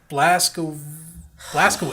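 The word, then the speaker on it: Blazkowicz: Blaskovich is the actual name to Wait, way yeah. to pronounce that name. What is going on? Wolfenstein, man. W-I-C-Z is Vich.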